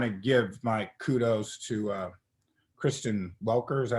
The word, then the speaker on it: Kristen Welker: Well, first I want to give my kudos to Kristen Welker. Is that how you pronounce her name?